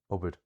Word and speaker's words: obair: So, we have in Munster abhus, eala, and obair, all with initial stress.